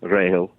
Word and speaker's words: Rachel: Her very name is pronounced Grail, Rahel.